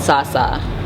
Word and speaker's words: Sa: It's pronounced Sa.